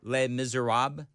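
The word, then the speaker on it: Les Misérables: How do you How do you say le miz le miz le miser rob le miser rob?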